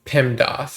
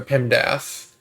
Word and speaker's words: PEMDAS: you want to um remember is pemdas or pimdas however you want to pronounce it uh it stands